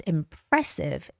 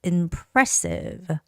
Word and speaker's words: impressive: And when you're reading the word impressive, that also has a second syllable stress, impressive, impressive.